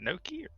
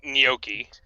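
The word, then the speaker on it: gnocchi: good oh yeah noi is it Noki it's noi noi okay I don't know how I was supposed to know I supposed to pronounce it that way you're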